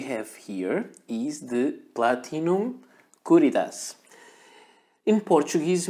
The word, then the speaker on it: Curidas: Platinum Caritas in Portuguese my my tongue wants to say courage because that's the way we pronounce things but I think it's strange and all the mentions I saw were Caritas so let's go for it this is a pen